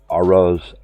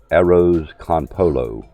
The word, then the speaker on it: arroz con pollo: chicken and rice basically I cannot say it arose arroz con pollo and I'm going to put it in the chat as it's spelled it and again like this it's just ease chicken and rice and people have over